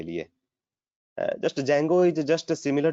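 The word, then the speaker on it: Django: Web application, इसमें क्या होता है कि आप लोग इसमें डी जैंगो, जिसको जैंगो भी बोलते हैं, डी को साइलेंट करके, ठीक है।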